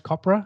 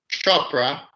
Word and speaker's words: Chopra: me for it uh niraj kopra is that how you say it chopra chopra there you go max and i were